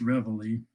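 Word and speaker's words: Reveille: which is called revelly it doesn't look anything like it's spelled but it's pronounced revelly has been in constant publication since 1963.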